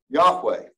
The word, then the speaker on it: Yahweh: weren't uh weren't written it probably was written and pronounced Yahweh which is a causative